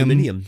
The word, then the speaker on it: aluminium: Yes, aluminium. That's how you say it. I thought it was aluminum. Aluminium? Actually, both names are correct, apparently.